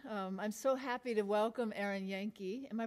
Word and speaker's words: Erin Yanke: I'm so happy to welcome Erin Yanke. Am I pronouncing it right?